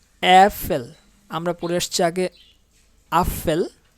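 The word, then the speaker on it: Äpfel: আমরা পূর্বে পড়ে আসছি আ, প্রথম অক্ষরটা ছিল জার্মানির আ, বাট এটা হচ্ছে এ, অ্যাফেল।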